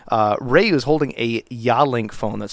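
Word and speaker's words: Yealink: if applicable but uh Ray is holding a yawlink phone that's spelled y-e-a-l-i-n-k that particular phone is probably the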